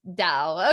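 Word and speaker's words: Tao: the tau is pronounced dao okay i thought in my recollection i thought it was a d a d sound so dao okay excellent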